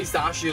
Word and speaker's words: Zacian: Say Zashian like Swellow and pronounce Zamazenta like Magenta, but I don't pronounce the G that is.